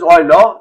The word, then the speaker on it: Euler: And you must be familiar, e is Euler number written as Euler, pronounced as Euler.